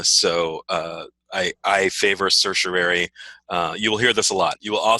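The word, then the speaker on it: certiorari: some people say like cerseiari but that ignores like the r in the middle of the word uh so uh i i favor circulari uh you will hear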